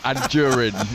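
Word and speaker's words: Anjorin: So Anjurin is the correct pronunciation.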